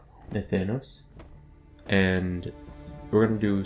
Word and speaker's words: Nathanos: I got a few comments on me pronouncing it Nathanios as being incorrect, so it's Nathanos, maybe? Nathanos.